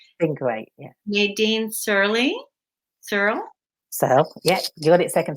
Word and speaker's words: Searle: Searle. Yeah. You got it second time. Searle. Yeah. Searle. Nadine Searle. Good. It's one syllable. That's maybe an easy way. So it's just one syllable.